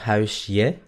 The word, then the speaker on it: huisje: ¿Se dan cuenta que no digo huisje? Es huisje, je, huisje.